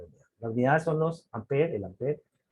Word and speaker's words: ampere: Nos están diciendo que J se escribe así, que el ampere, que se, y se dice ampere, no se dice amperio.